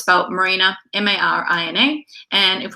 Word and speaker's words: Marina: well my name is marina just like where the boats go it's spelt and pronounced exactly the same so truthfully I am